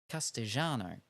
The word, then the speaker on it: Castellano: For example, the double L sound, like in Castellano, is pronounced with more of a sh or J-ish. So Castellano.